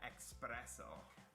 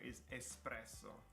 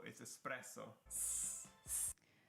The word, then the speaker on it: espresso: song mascarpone mask especially most americans would pronounce that expresso with an x yes and again there's no x in there it's espresso but it's express no it's espresso so oh sorry the